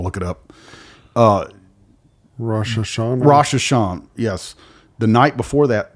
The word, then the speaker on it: Rosh Hashanah: Rosh Hashanah, yes.